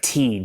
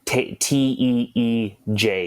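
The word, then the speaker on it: Tij: It's like Tej, like Teej is kind of like the pronunciation I've been told.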